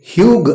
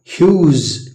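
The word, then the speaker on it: huge: ಇ ಸೇರಿಸಿದರೆ cute cute ಇದು ಹಗ್ ಇದಕ್ಕೆ ಈ ಸೇರಿಸಿದರೆ ಹ್ಯೂಗ್ ಅಲ್ಲ ಹ್ಯೂಜ್ ಹ್ಯೂಜ್ ಇದು ಪ್ಲಮ್ ಇ ಸೇರಿಸಿದರೆ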